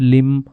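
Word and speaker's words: limb: यम यम है the first लिम of yoga. तो लिम भी साइलेंट रहेगा इसमें कि पहला अंग है योगा का वो है यम।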